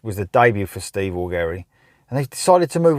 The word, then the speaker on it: Augeri: So, this is the second album to feature Steve Augeri, or Augeri, spelt with a G, but Augeri I'm going to go with.